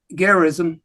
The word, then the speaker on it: Gerizim: there's a mountain on each side, Ebal and Gerizim. That's how you pronounce those 2.